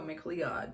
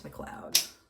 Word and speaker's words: McLeod: I recently learned it's spelled like McLeod, which, an American person would be like, oh, McLeod, but no, it's McLeod.